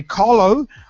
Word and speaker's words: Qalo: Then they play Carlo, that's spelled Qalo, on Sunday before the Lesotho game at the National Stadium in a game named as Champions of Champions.